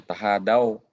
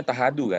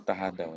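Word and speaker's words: تهادوا: Seperti ada hadis yang banyak orang keliru di situ ya, tahadau. Itu banyak yang bacanya tahadu kan? Oh, nah. Itu tahadau ya.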